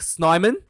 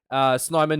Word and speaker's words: Snyman: And I thought the locking combinations, John Klein, and apparently it's pronounced Snyman. Snyman, he was quite good as well.